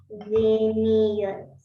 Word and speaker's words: bienvenidos: You can say that as if it were like 2 words, because I know it's only one, but it's too long. So we in Spanish sometimes some words we can say it like if they were split.